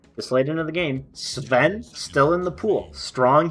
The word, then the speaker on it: Sven: Will it be the Sven? That's how it's pronounced. Seven.